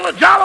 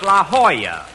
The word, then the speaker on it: La Jolla: I'm over here at the La Jollo Auto Court. Rochester, I found out that's pronounced La Jolla. It turned out to be a Spanish word.